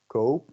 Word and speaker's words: koop: So there's a different vowel sound. You have koop and kop.